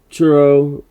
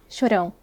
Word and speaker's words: Chorão: And there was just this weird symmetry between, especially with Churro, I think is how you pronounce it. Chorão. Okay. Tomato.